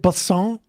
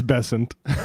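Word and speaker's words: Bessent: Is it Basant? Is that how we say his name? It's Bessant.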